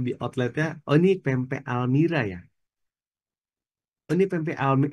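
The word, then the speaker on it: Almeera: Almira tulisannya Almera bacanya Almira.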